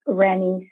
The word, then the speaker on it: Renny: with my contact information it's randy c i always tell people it's like jenny with an r that's easier my email is rc